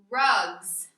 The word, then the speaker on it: rugs: Well, what if I wanted to say that I have 2 rugs? Rugs. Ooh, do you hear that last sound at the end? Rugs. It kind of sounds like a Z, zzz, rugs.